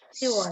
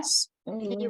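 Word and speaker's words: 시월: Jadi kalau untuk bulan Oktober dia Siwon.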